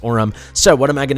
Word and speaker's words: Orim: to call him Bas Orum must be pronounced Oram so what am I